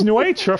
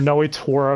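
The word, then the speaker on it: Nnoitra: Oh hey, it's Nuetra from Bleach. Or Noetora if you want to be boring and correct.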